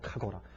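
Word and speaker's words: חגורה: 카고라. 이 발음이 좀 짧아. 카고라.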